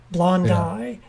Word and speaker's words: blondi: pronounces latin names wrong i got mocked relentlessly by biology professors when i first got to college because i was saying like theraphosa blondie or bracapalma hamori now it's blondai if there's an eye